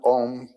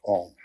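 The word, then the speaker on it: AUM: You start in the back of the mouth, ah. And then oo, you fill the mouth. And closes at the mouth.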